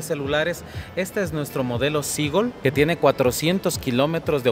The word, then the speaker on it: Seagull: Para no pronunciar mal, ¿cómo pronuncias vos esto? Seagull.